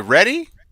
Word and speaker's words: Reedy: Is it ready? I thought Reedy? Ready. We need a pronouncer. That looks like ready, because that's how you spell ready.